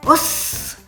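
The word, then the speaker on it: おっす: Et là encore, prononciation, « Os !» Il faut retenir le « s ».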